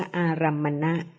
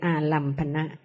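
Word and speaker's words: อารัมมณะ: จิต กำลัง รู้ ค่ะ ใน ภาษา บาลี ใน พระ พุทธศาสนา ใช้ คำ ว่า อารมณ์ ใน ภาษา ไทย นะ คะ แต่ จริง ๆ ต้อง ออก เสียง ว่า อารัมณะ หรือ อารัมณะ หมาย ความ ถึง สิ่ง ที่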